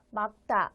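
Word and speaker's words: 맑다: 막다 읽어야 해요.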